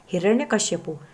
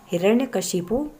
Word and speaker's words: हिरण्यकशिपु: आगे है चौथा हिरण्यकशिपु अक्सर हम यह उच्चारण करते हैं हिरण्यकश्यपु लेकिन हिरण्यकशिपु ने हिरण्यकशिपु होता है आगे है कवित्री कवित्री